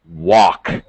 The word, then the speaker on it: walk: Be careful of pronunciation of walk. Walk. Walk. Walk and work. Walk. Okay, walk. Work. Okay, better. Okay, walk. Open your mouth a little more for walk.